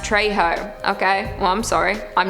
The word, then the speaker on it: Trejo: not happening zachary terry said he's spanish and it's pronounced trejo okay well i'm sorry